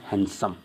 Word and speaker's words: handsome: एन और डी जब बीच में होगा इकट्ठे, तो डी क्या हो जाएगा, साइलेंट। तो यहाँ पर क्या यूज़ करूँगा मैं, सैंडविच। क्या यूज करूँगा, sandwich, sorry this is the sandwich. N एंड डी तो क्या बोलूँगा, हैंडसम।